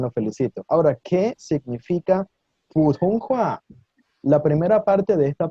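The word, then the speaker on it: 普通话: Se dice Putonghua. ¿Pueden repetir? Excelente, chicos, los estoy escuchando muy bien. Putonghua, otra vez. Excelente, gente, muy bien, los felicito. Ahora, ¿qué significa Putonghua?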